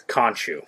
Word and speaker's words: Khonshu: One thing is, how do you pronounce the? No, it's Khonshu. Khonshu, yes. May Khonshu watch over the denizens of the night.